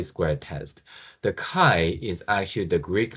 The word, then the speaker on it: chi: answer is we introduce what is called a kai square test. The kai is actually the Greek letter uh which is kind of looks like an X.